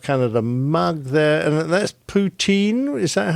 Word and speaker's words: poutine: And that's poutine. Is that how you pronounce it?